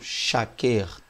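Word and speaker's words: שקר: Ed, e a última palavrinha, que seria a palavra shaker, tá? Ou shaker, que seria a melhor pronúncia.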